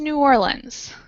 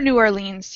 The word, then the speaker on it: New Orleans: to stretch down to New Orleans or New Orleans you can pronounce it both ways anyone have an idea